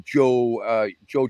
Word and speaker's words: Jo: and I was seated right next to Joe Jorgensen, or as my Norwegian friends say, the correct pronunciation, of course, is Yo Jorgensen.